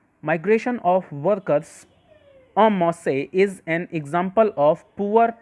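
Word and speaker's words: en masse: इसको दोस्तों प्रोनाउंस करते हैं अमासे।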